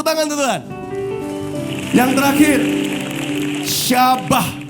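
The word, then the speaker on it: shabach: UNT Tuhan yang terakhir syabah ini yang agak susah nulisnya s h a b a CH H syabah bacanya s h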